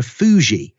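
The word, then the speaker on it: Fu Xi: were first imposed by the emperor fuji and fu x i you pronounce that but even he imposed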